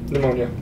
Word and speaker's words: pneumonia: Um yeah, I don't silent P in there. Oh, pneumonia.